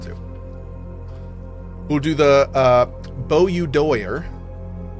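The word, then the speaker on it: Boudoir: We'll do the uh Bo doer. That's how you say it.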